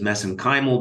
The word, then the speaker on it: mesenchymal: And of course, you study MSC stem cells, which I pronounce as mesenchymal because that's how they pronounce it in Ireland.